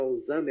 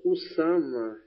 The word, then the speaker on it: Usama: Osama não é Osama, é o Usama.